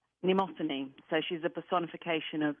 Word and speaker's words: Mnemosyne: How do you pronounce her name? Mnemosyne.